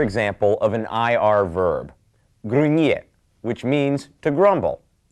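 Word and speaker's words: gruñir: Here's another example of an IR verb, grunyer, which means to grumble. Remember the N with the tilde over it is pronounced like nie. Let's start with the conjugation of grunyer.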